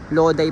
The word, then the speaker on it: Lodi: ko lang nakita na ayan ' ba nak loday pala talaga loday pala ang pagkaka-pronounce sa kanya masarap maglakad-lakad ngayon kasi ah